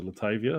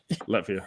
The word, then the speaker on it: Latvia: I had a shirt that I sent to Latavia. I think that's how you pronounce the country. Latvia.